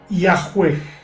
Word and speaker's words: Yahweh: Los eruditos modernos conjeturan que originalmente se pronunciaba Yahweh, aunque en estos tiempos, en las traducciones modernas de la Biblia, por ejemplo, se escribe Yahvé.